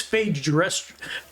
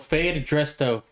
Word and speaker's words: Fade Dresto: Fade, like catching the fade. Like you're gonna get a fade out of the barbershop.